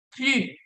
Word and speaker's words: plus: Plus. Aquí la pronunciación no va a sonar la S.